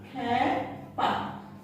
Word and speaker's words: খেপা: তাহলে খেপ ধাতুর সঙ্গে আ প্রত্যয় যুক্ত হয়ে গঠিত হয়েছে খেপা শব্দটি, সেই কারণে এই খেপা শব্দের একারের মতো উচ্চারিত হবে, খেপা।